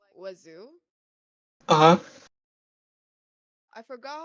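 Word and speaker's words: oiseaux: spelled wazo which is way so how you pronounce it is like wazo uhhuh I forgot how you spell it it's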